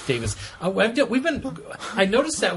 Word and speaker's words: Davies: another pronunciation uh note the surname Davies in the UK is generally pronounced the same as Davis here in the state so Russell T Davis pronounces his name Davis we've been I noticed